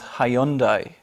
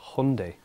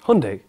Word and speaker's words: Hyundai: whole thing was like Hyundai like Sunday when I was in